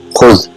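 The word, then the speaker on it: خذ: What it is pronounced is khuz. If you have anything, if you want to give it to somebody in front of you, say khuz, take it.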